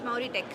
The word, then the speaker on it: Mauritech: Yes, it's Mauritech. Mauritech. Yeah. Okay, I pronounced it well.